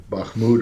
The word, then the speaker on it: Bakhmut: analysis the uh the battle for um uh bahmoud or or I can't am I pronouncing that incorrectly you're absolutely correct okay is